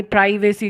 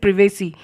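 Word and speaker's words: privacy: उतनी ही कम प्रिवेसी, यानी प्राइवेसी जिसको लोग बोलते हैं, actually the correct pronunciation is प्रिवेसी।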